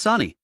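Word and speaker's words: Sunny: Sonni was paired with Nashu yelled, "Hurry up, Mommy. You're kind of slow. Let's get air." Sonnie almost lost it. It's not Mommy, it's Sani. How can you get both syllables wrong when there are only two?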